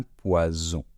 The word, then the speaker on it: poison: d'accord donc poison donc je répète le premier un poisson et le deuxème un poison donc j'espère que cette fois-ci